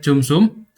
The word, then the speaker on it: cumsum: Untuk penjelasan fungsi tiap baris inti mungkin beberapa saja ya seperti hitung histogramnya menggunakan his ini sama dengan jumsu bacanya itu eh cumsum cums dan juga eh hitung CDF.